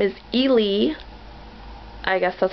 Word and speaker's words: Eli: I kept wanting to say Eli because I used to work with a girl named Elizabeth who went by Eli for short, but in the movie, they pronounce it like Ely. So, Ely.